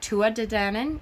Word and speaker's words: Tuatha Dé Danann: saying it correctly, because I have always said Tuatha De Danann, and there is no TH on it. I've heard Tua De Danann and Tuatha De Danann.